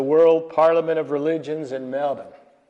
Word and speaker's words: Melbourne: In 2009, he addressed the World Parliament of Religions in Melbourne. Americans say Melbourne. The Australians say Melbourne, mate.